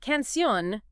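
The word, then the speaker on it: canción: ends an R but canion meaning song ends an n and the stress is on that last syllable so bam it needs a till day okay so a more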